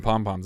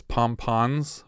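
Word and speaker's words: pompon: was a typo cuz the headline says pom pons with an N but it turns out that's actually how you spell it but people say pom pom and so pom pom with M at the end is now accepted it's technically synonymous now yeah we cut to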